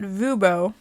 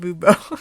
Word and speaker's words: Fubo: Or if you have that Fubo. I said Vubo. Yeah. Subscription service. Clearly we have it if we can't even pronounce it.